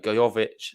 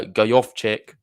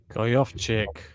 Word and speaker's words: Gojowczyk: can't really criticize uh gayovich there sorry i've just butchered the name uh go off check go off chick how many times do